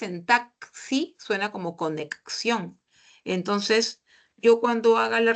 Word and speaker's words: conexión: palabra en esta palabra el sonido si se han dado cuenta de la x corresponde a doble a doble fonema dice con conexión conexión por eso es